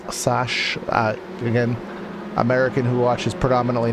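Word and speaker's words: Sachs: This is turn 11, which is Mobile 1 corner, into turn number 12, which I believe is pronounced Sash.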